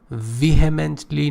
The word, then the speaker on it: vehemently: who vehemently pay attention vehemently know here is silent here vehemently means strongly resist